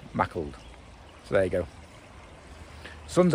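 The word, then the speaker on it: Maughold: might get up to mackled now apparently it's spelled like it's like it should sound like more old but apparently it's pronounced mackled so there you go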